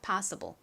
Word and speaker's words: possible: S는 시옷 소리가 나는데 이렇게 뒤에 IBL가 올 때는 좀 세게 발음되는 경향이 있습니다. 그래서 쌍쇼에 가깝게 발음되고요. IBLE는 덩어리로 ble 소리 나죠. 그래서 possible이라고 발음을 하시면 됩니다. possible 의미는 가능한이죠.